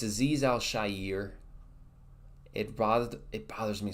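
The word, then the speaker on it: Al-Shaair: know broadcast and stuff when announcers will pronounce his name aiz Elshire it really bothers me a lot it's not a zizel shire it's aiz Al Shyer it Bo it bothers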